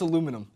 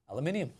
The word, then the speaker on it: aluminium: Aluminium is made up of 3 or 4 main parts of the word, spelled like this, but Americans pronounce it like this. Something tells me that Americans are using the wrong vowels. You might as well say aluminum. English people pronounce it like this. That's awkward. We pronounce it correctly.